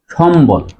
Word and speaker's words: সম্বল: আরেকটা জিনিস দেখো, আমরা কি বলি যে সম্বল, উচ্চারণ করি কি সম্বল, অর্থাৎ মর সাথে ব ফলা থাকলে বর উচ্চারণ বজায় থাকে, উচ্চারণ হবে সম্বল।